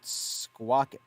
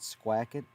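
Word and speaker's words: Squackett: together it was called squawkit you know it looks like it's spelled squawk it but steve hackett calls it calls it squeak it as it calls it squak it squak it sounds kind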